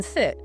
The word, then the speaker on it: sit: The short I in sit is very fast. Your jaw is relaxed. Sit. Sit. Quick and done.